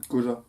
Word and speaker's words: Koja: Alors, comment ça se prononce? Koja.